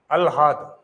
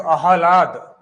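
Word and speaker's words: आह्लाद: शब्द आ गया अलहाद शुद्ध रूप से अगर इसको उच्चारण करेंगे तो अहलाद क्या अह लाद अहलात अब शब्द है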